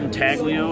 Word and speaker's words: intaglio: Yeah, and now I've started doing reverse intaglio work. Am I saying it wrong by calling it intaglio? People call it intaglio. As far as I understand it, the G is silent.